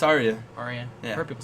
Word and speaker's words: Arya: the actress who plays Arya Stark is it ARA or Arya what do you say it's Arya Arya I heard people say ARA that's how I pronounced in my head when